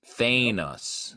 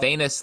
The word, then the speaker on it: Thanos: Thanos. No. Thanos. Well, Thanos, like anus.